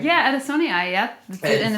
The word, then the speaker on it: adansonii: I have a Monstera adansonii. Did I pronounce that right? Yeah, adansonii, yeah.